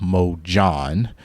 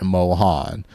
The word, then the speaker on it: MOJHON: The company is actually called Mo John, not Mohan.